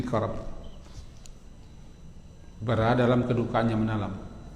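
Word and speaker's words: كرب: Orang yang sedang mengalami kedukaan yang mendalam, berarti ketika itu dia sedang dikarab, fil karab. Kaf, ra, ba, karab. Fil karab.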